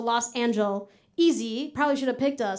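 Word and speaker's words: Los Angeleasy: So it's spelled like Los Angeles, but easy, EASY. So Los Angel, easy.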